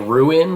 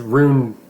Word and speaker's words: Rune: so ruin is a witch you're saying it ruin like r u i n that's what's throwing